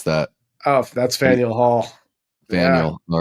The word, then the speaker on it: Faneuil: Brown Derby Deli is still there I don't know how to pronounce that. Oh, that's Faneuil Hall. Faneuil.